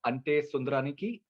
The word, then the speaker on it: Ante Sundaraniki: And I really like the promo of Ante Sundaraniki. Have I pronounced it rightly?